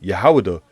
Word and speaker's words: Wahidah: In 1747, the 1747 map below shows the kingdom of Judah, Wahidah, all right, which is how you say it, Wahidah, all right, in West Africa.